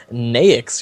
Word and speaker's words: Naix: But interestingly enough, this hero Naix, who we've seen several times now, what? I don't know why it's pronounced that way, but it is. And I just when you said Nix, that just bothered me.